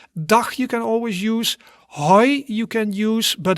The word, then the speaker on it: hoi: So you pronounce that as hoi.